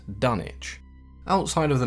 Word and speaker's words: Dunwich: the town was called Dunwich but Lovecraft was a fairly big Anglophile and there are many towns in his work as well as just in general that were named after towns back in England one of those towns